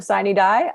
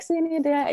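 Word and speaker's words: sine die: knew very little even the pronunciation of siney die i it was up to me i would have pronounced that in a uh like in a coral way like see any day you know something like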